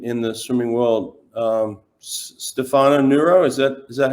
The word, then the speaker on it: Stefano Nurra: really important in in the swimming world um stefano neuro is that is that how you say his